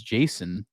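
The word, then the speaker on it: Jacen: a baby and uh his name is Jason but it's spelled j a ceen which is another reference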